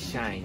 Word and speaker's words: shine: Oh, made us shine의 발음을 잘해야 돼. Made us shine, made us shine. Made us shame 하면 이제 너희는 나를 부끄럽게 만들어. 아 그래?